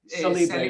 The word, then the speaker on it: Cellibre: Ben is the founder and CEO of Cellibre. Am I pronouncing it right? Cellibre, yes.